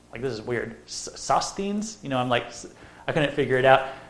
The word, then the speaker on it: Sosthenes: Sosthenes? I couldn't figure it out. So I typed it into Google, and I'm just like, how do you pronounce this word? And Google popped up, and it said, Sosthenes.